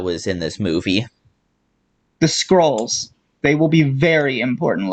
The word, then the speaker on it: Skrull: So they're Well, spreading the message, Skrull, Skrull like bad, we with a need to kill U. them. Scroll with a U, by the way. Skrull. It yeah rhymes with hull, like hull of a ship.